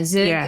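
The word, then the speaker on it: zhoug: the side they have I don't know how to say it, but zhug? Zhug? Zhug. Oh yeah, z h o u g. Yeah. The kind of green Yeah, zhug.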